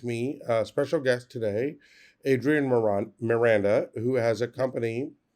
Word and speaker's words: Adrian Miranda: pronounce it it's Adrian Miranda. Yeah. Adrian Miranda.